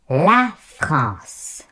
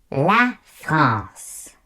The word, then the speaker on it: la France: La France. La France.